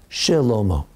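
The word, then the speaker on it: שלמה: Shilomo. So that's the first rule. The beginning of a word, you always pronounce it.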